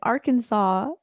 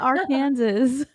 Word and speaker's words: Arkansas: is my favorite one Nina it's Arkansas not Aransas I know it's Arkansas I always say Aransas uh Arkansas it's because they it's spelled weird shout out to my